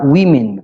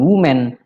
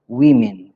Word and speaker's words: women: Bacanya adalah women, bukan woman, tapi women.